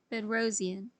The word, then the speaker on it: Bedrosian: The concept of complex envelope was popularized by Degunji and Bedrosian. Degunji is spelled D-U-G-U-N-D-J-I, and Bedrosian is spelled B-E-D-R-O-S-I-A-N.